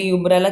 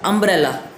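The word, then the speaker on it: umbrella: Pronunciation पे हमारा base होता है ये, यूम्ब्रेला, यूम्ब्रेला, अम्ब्रेला। देखो अब यू के करेक्ट प्रोनाउंसिएशन अम्ब्रेला है, अम्ब्रेला, अम्ब्रेला, यू के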